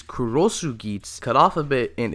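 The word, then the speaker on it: Cross Geats: instead of after and the pronunciation of cross GS in Japanese is kurosu gits cut off of bit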